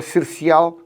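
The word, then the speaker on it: Sercial: No Dão existe o Cercial, ambos feitos escritos com C de cão. E há o da Madeira, que é Cercial com S. É a terceira casta Cercial, todas se pronunciam da mesma maneira, mas ligeiramente com caracteres diferentes.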